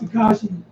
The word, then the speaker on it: Tekashi: So, but tell me about Tekashi. Hey, Regina. I finally think you pronounce right.